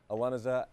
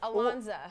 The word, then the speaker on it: Ilonzeh: As we welcome Torrey, Devito, Annie, Ilonzeh, and Patrick John Flueger from Chicago Med, Fire, and PD, or as I like to call this, Chicago Squares.